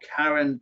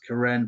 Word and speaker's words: Karen: We've got a very significant Karen or Karen, but pronounced Karen population here in the Karenni or the Karen Hills.